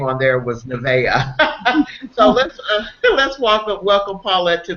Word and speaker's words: Nevaeh: Paulette is here to share with us about her new book, and I hope you correct me if I pronounce this incorrectly, Princess Nevaeh.